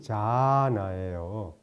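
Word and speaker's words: jhāna: 그래서 일반적으로 젠 부디즘 그러면 건데 그 일본식 발음이고, 근데 선을 이제 그 원음은 자나예요. JHA 장음에다가 NA 자나인데 이게 빨리어입니다.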